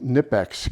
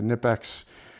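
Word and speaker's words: Knipex: So, when you're talking, I don't know, maybe a 15 10 15 bucks difference to get the Nipex Canipix is actually probably the right way to pronounce it uh versus the Icon version of either the Twin Grip or the Raptors.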